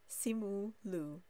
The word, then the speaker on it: Simu Liu: So Simu Liu.